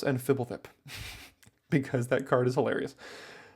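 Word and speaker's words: Fblthp: at yourself and know that it's borborygmos and fibblefip because that card is hilarious Corruption of tawashi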